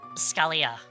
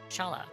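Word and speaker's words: Schala: So, I called her Scalia for the longest time until I actually it's like, "Oh, it's Shala." So, yeah. No, it's uh I called her Scolia cuz I was terrible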